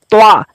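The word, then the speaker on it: ط: नाज़रीन इसको अलग अलग लेते हैं और उसका उच्चारण भी अलग अलग है। जैसा कि ये देख पा रहे हैं आप, त्वा।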